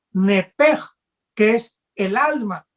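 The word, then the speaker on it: נפש: de esta palabra vida en el hebreo es un ep que se pronuncia knepper que es el alma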